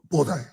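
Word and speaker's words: 菩提: Body which is pronounced in Japanese bodai.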